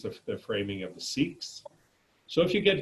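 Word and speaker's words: Sikh: don't study is the seek religion if you were to listen to the how they say it they say sick but because of the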